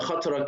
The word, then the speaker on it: khatra: Okay, khatra is an Arabic word again. Yes. Pronounced khatra. That's why I spell it with K and H so that the English-speaking people can read it correctly. But it caused some confusion in European people. They pronounce it khatra or something like that. It's khatra. In Turkish phonetics, we prefer pronouncing it khatra because the Turkish and Arabic phonetics are different.